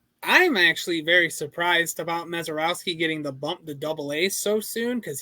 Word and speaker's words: Misiorowski: And Jacob Misiorowski.